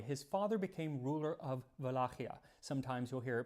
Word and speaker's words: Wallachia: Now, when Dracula was still a young boy, his father became ruler of Wallachia. Sometimes you'll hear it pronounced Wallachia.